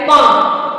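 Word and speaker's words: palm: L silent होता है अगर ए ओ यू के बाद एल आता है तो वो वहां पर साइलेंट होगा जैसे सी ए एल F calf H ए एल F half C एच ए एल A Chowk Y ए एल के या पी ए एल एम पाम तो आपने इसमें देखा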